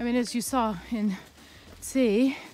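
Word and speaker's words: Cee: as you saw in see that's how i think you pronounce that town it's spelled c-e-e uh we still came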